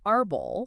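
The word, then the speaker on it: árbol: So the word arbol, Arbol.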